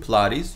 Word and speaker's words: Pilates: 이거 필라테스라고 발음 안 하죠? 필라테스라고 그래. 필라테스. 필라테스. 필라테스. 필라테가 아니라 T로 발음돼. 필라테스.